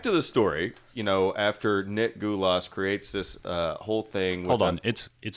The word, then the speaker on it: Gulas: I'm going to say Gulas. Yeah, Gulas is a good pronunciation.